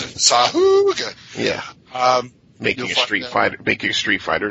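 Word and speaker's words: Sahuagin: It's not the Sahoogan, but it's the Sariel. Which you will find. That's how DM Mike pronounces it. Sahoogan.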